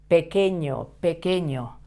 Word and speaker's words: pequeño: And I also explained to you how to pronounce these three letters together, the Q, the U, and the E. This sounds like que, as if you write this with a Q, okay?